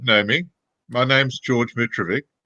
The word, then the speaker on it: Mitrovic: For those who don't know me, my name's George Mitrovic. If you wanted to use the ethnic pronunciation, it's Mitrovic, but most people can't spell it or pronounce it. So it was anglicised a long time ago.